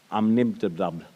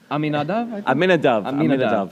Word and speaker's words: Amminadab: Yeah, so if there's one character, it's a gentleman called Nachshon ben, I will mispronounce his surname, his father's name even, Nachshon ben Amminadab. Aminadav. I should have practiced that.